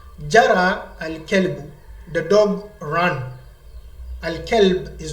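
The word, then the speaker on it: الكلب: Sometimes some will say al-qalb. Al-qalb, if you make it the kaf here, cough, which is the hat. Say Jara al-qalbu, the hat ran. It becomes a mistake. Jara al-kelbu, the dog ran.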